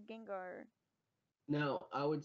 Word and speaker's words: Gengar: He would say Jigengar instead of Gengar.